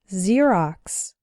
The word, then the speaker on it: Xerox: ex-girlfriend ex-husband or ex-wife when X starts a word then it's pronounced like Z there are very few of these words in English but a couple of them are xenophobia xylophone and Xerox xenophobia means fear of